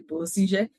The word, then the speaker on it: Bussinger: E tenho um prazer enorme de estar aqui hoje com o doutor Alexandre Bussinger, e aqui o sobrenome dele sempre me confunde a pronúncia, mas é isso, Alexandre Bussinger.